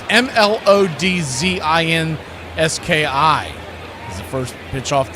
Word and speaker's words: Mlodzinski: As Carmen Mlodzinski, as it's been commonly mispronounced, it's Mlodzinski.